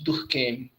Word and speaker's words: Durkheim: Alemanha então vocês escutam o nome dele para anunciado como alemão tocarem ou pronunciado como francês Durkheim Émile Durkheim tá os dois estão certos você pronuncia do modo como mais lhe apetece é bom então a